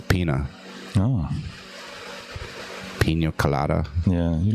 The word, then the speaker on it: Pina: There's no little squiggly accent on the end. It's Pina.